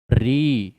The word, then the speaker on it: ऋ: 10 क्योंकि बेटा जो ऋ है यह स्वर का उच्चारण नहीं दे रही है। स्वर की साउंड नहीं दे रही है। री री ऋ ऋ किसकी साउंड आ रही है? व्यंजन र की।